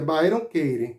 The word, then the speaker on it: Byron Katie: Se você quiser pesquisar, você bota Byron com Y, Katie com K. Aí se pronuncia Byron Katie, né?